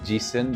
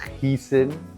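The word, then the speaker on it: Giesen: The brand is called Gen but pronounced heen.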